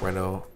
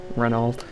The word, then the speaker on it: Renault: Renault I think oh Renault wow okay I love the the word Rena Rena is a great word because it's spelled so differently than it's said yeah yeah renol how many if you